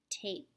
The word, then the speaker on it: tape: okay G a PE the e is silent and the word tape now we're going to use